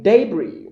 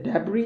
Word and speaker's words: debris: be correct yeah a debris you can say a debris you can say debris not debris no it's a french word yeah debris root root